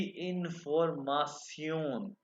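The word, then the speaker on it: Information: उसके बाद जो है ना ये वर्ड जो इंफॉर्मेशन है, इंफॉर्मेशन, ये शन जो है ना इसको जर्मन में प्रोनाउंस करते हैं सियोन, सियोन, ठीक है।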